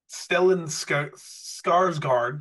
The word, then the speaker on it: Stellan Skarsgård: Next is Stellan Skarsgård. Did I pronounce that right?